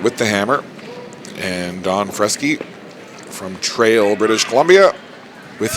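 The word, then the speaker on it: Freschi: the te and now we move to Mr fresy and I asked him about the pronunciation of his name it's spelled f re s c hi I but he told me it's fresy and Italian descent second or third generation Italian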